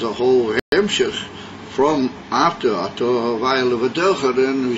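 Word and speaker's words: אתה: It's written with a top, but it doesn't in the original Kesiv. In the Mikra it doesn't have a hey, and it's, even though it's pronounced Ato, it's a difference between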